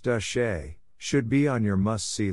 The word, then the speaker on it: de Chelly: A visit to Canyon de Chelly, pronounced De Shay, should be on your must-see list if you want to see beautiful and historical natural wonders in Arizona.